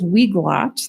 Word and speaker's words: Weglot: The next one is Weglot, that's how you pronounce that, and it enhances our website translations.